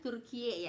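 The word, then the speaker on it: Türkiye: kan ada bacaannya kan kalau Turki itu kan bacanya turkiye Ya turkiye gitu ya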